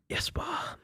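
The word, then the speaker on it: Jesper: So you say it Jasper. Jasper Krona. Yeah. Big big goal. It's Liverpool. Uh yeah, it's what 22 years ago that was. Yesper.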